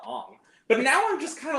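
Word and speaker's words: Aang: be the guy's like well actually his name is ang not Ong but now I'm just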